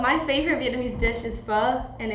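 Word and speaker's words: phở: it inail uh my favorite Vietnamese dish is f and it's a like a noodle soup and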